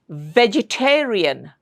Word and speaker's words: vegetarian: Vegetarian. Vegetarian. Don't make it bilabial. Vegetarian. Don't say that. It's very wrong. It's incorrect pronunciation of the sound V.